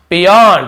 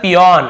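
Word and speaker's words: peon: कौन है the aged पियन ठीक है बहुत से लोग इसे प्यून बोलते हैं एक्चुअल में इसका सही उच्चारण क्या होता है पिन ऐसे पिन यानी होता है चपरासी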